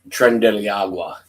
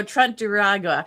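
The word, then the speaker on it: Tren de Aragua: Trump Trent Trend Deiagua. There we go. Trent Duragua.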